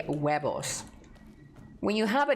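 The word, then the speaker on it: huevos: Yeah, it is H and the H is silent. So you say webos.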